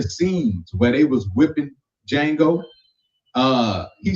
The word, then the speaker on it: Django: working on a movie, Django. Mm-hmm. He kept calling it Django. I want to go back. Like, if you don't stop putting that goddamn D. The D is silent. Like the K in knife.